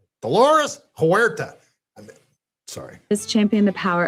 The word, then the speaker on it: Dolores Huerta: Alongside Dolores Huerta, Chavez Dolores Huerta? Why do you say it like that? Why I mean, just you don't need to do the accent. Dolores Huerta. Dolores Huerta.